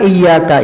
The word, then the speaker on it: iyyaka: Itu kalimat iyyanya kadang tidak ditasydid oleh sebahagian orang, tidak sah bacaannya. Bahkan sebahagian ulama mengatakan jika tahu artinya dan sengaja membacanya dengan tidak bertasydid bisa kafir. Kenapa? Karena iyyaka itu cahaya matahari artinya. Kalau kita membaca seperti ini, iyyaka na'budu, iya bukan iya, tapi iyyaka na'budu, kepada cahaya matahari kami menyembah.